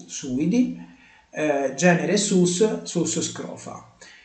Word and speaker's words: suidi: Quindi avevo detto genere, quindi la famiglia dei suidi, quindi l'accento è sulla U, suidi, genere sus, sus scrofa.